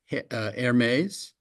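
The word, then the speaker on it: Hermès: Hermes. Please tell me I pronounced that correctly.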